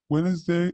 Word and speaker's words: Wednesday: Wednesday اختصارها هنا D silent ما انطقها تكتب ولا تنطق.